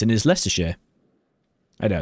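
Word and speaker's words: Leicestershire: then and then the county it's in is less share.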